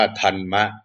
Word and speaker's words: ธรรมะ: ของ พระ พุทธเจ้า ส่วน ธรรมะ นะ ที่ มี ร เรือ 2 ตัว มา จาก คำ สันสกฤต นะ เขียน เป็น ภาษา สันสกฤต ว่า ธันมะ นะ ธง ร เรือ 2 ตัว แล้ว ก็ ม้า สระ อะ อ่าน ว่า ธรรมะ เป็น คำ ของ พราหมณ์